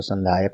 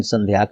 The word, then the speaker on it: संध्याक: तो ये संध्याक, ये इंग्लिश में भी इसीलिए मैंने लिख दिया है, हो सकता है कुछ लोग इसको संध्यायक पढ़ें, लेकिन संध्याक ही सही प्रोनाउंसिएट न्यूज में कई जगह हमको दिखा है।